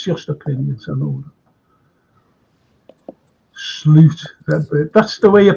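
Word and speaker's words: Slot: I know that it's just opinions I know slute that's the way you pronounce his name deed that's the way you pronounce his red his name he actually said it himself in an interview slute you pronounce me slute and slute he gets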